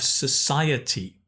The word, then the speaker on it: society: And this is the difficult one. Sociable. Sociable. But society. Society. Nice one.